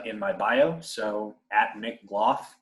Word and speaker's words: Gloff: my bio so Nick Glo just spelled exactly how it sounds as long as you pronounce my name as golf in that case you